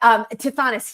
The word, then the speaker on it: Tithonus: But Tithonus, he asked God for like eternal life, like